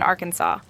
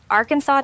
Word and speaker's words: Arkansas: When it comes to pronunciation, Arkansas takes its name very seriously. The state must be pronounced Arkansas, not Arkansas.